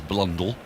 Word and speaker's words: Blundell: to our stump shouldering arms quite flamboyantly as blondel i was told by the way the pronunciation of blundell by um craig mcmillan who's